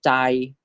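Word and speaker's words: ใจ: This is chai, chai.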